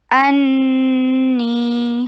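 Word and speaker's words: أني: अन्नी हमजा शदीद, फतहा के लिए जबड़े को खोलिए, हमजा को शिद्दत के साथ प्रोनाउंस कीजिए, नून के ऊपर 2 हरका गुन्ना कीजिए। अन ये गुन्ना किया और स्ट्रेच कैसे किया? नी 2 हरका लॉन्ग क्योंकि मद तबी है।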